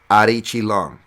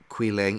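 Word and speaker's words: Aoriqileng: it for your information he says it is aori it is arichi long not qui lang eori not aori qui leng it's ari chilong that's how it is pronounced so i did not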